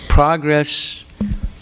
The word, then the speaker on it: progress: can progress not progress progress is a noun progress is a verb it's spelled exactly the same but if you pronounce it progress that's wrong in this context it's used as a verb know if it's used as a verb it's different than if it's used as a noun so if you say